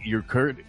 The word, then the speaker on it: Urquidy: Jose, it's Urquidy. Not exactly Ron Guidry, but Urquidy. Okay. I'm going to go with that. Jose Urquidy.